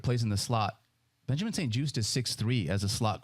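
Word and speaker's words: St-Juste: And Benjamin, I'm going to say his last name wrong. St. Juste? St. Juice? St. Juiced.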